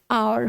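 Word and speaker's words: hour: से हावर है, लेकिन इसका सही प्रोनाउंसिएशन बेटा आवर होता है, आवर या फिर आर। ठीक है, अब कई बच्चे एच देखेंगे, एच देखेंगे और लिख भी लेंगे, मैडम ने कहा था लिख लेना, तो निकाल लोगे हावर, लेकिन इसका करेक्ट प्रोनाउंसिएशन हावर नहीं है, आर है, एच साइलेंट होता है।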